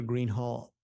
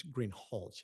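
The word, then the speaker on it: Greenhalgh: thank you your honor officer Green Hall I believe I'm mispronouncing your name it's green hch isn't it correct okay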